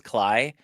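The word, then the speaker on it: Klei: I don't know how to pronounce that, but I think it's I think it's Cly.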